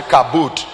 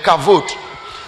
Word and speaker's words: kavod: You can say kavod. The word b and v in Hebrew, so b can be pronounced as v, kavod.